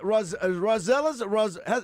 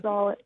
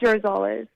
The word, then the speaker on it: Rosales: Alyssa Rosellas, is it Rosellas? How do you pronounce that, Alyssa? Rosales. What is it? It's Rosales.